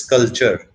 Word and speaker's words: sculpture: Pronunciation is sculpture, but L is silent.